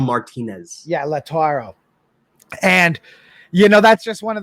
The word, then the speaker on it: Lautaro: They had a deal they thought accepted with Inter Milan for how do you pronounce his first name? Lautaro Martinez. Yeah, Lautaro.